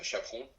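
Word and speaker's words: chapon: a sort of chicken uh which is called chaon I'm not sure what why is it called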